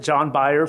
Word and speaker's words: John Beyer: John Beyer, phonetically, is a principal at SMBH Incorporated.